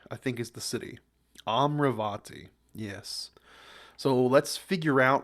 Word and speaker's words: Amaravati: think is the city amravati yes so let's figure out why uh amravati failed sustainable City sustainable City huh capital city of amarati amaravati okaya they pronounce it differently okay amravati amravati the myal